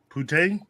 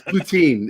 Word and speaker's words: poutine: never had before um putin you say it like it's putin puntang no not it's poutine it's poutine poutine yo man you're gonna